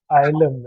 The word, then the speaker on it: YLEM: for people who do not know about you, you are the founder of YLEM, right? That's how it's pronounced, right?